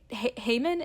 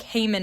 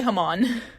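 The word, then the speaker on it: Haman: But I feel like Haymon is not how it would be pronounced in the Middle East. Definitely. Yeah. Yeah. Probably Hmon.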